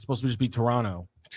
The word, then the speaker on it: Toronto: You're not supposed to pronounce the second T. Toronto. Yeah, it's supposed to just be Toronto.